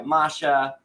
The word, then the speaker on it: Masha: I guess he doesn't fall for the bait left by Masha, and that Not yet, anyway. That's how you pronounce her name, Masha.